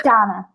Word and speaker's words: Danna: It's Danna. Mm-hmm. Danna, but it's spelled D-A-N-N-A, so everybody gets it confused.